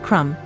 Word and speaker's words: crumb: pronunciation of the word Crum the enunciation of the final B seems clearly wrong to my ear but the verb and